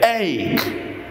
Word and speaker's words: ache: with the word hey it is like this it's spelled a c h and E we say egg egg and it stands for